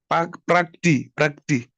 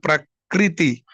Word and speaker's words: Prakriti: Just as a is it how do you pronounce it? It ran off my tongue. Prakti. Oh, woman cannot put Prakriti.